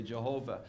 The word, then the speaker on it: Jehovah: Some people say Jehovah.